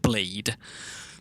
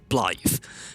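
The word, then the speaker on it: Blaidd: Like B L A I D in English would be pronounced blade. But when you see it, it's also spoken by the NPC you're talking to. Right? They say BL.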